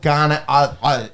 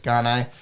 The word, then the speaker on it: Gane: read on the pronunciation i do believe it's ghanai uh in you know in the french in the as you know as you would uh but i'm following you but he's happy with god he's happy with ghan which is uh i believe how rogan was pronouncing it and he's happy even if you were to rhyme it with bane gain serial gain that's how i was saying it so what's he got